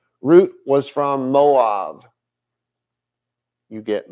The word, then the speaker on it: Ruth: would have to marry root not Ruth but root as her name actually should be pronounced if he redeemed Naomi's